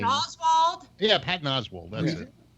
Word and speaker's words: Oswalt: It's not Oswald, it's Oswalt.